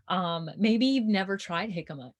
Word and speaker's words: jicama: you haven't tried before like jicama which is spelt with a j by the way um maybe you've never tried jicama it's amazing you should